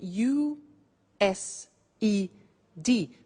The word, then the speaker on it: used: now this verb used to well it's written u s e d but the pronunciation is used and we'll see that on